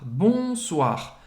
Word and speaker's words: bonsoir: Bonsoir, bonsoir. Bonsoir, O-I, se pronuncia wa. Wa, bonsoir. Mais uma vez, pronunciar o R no final.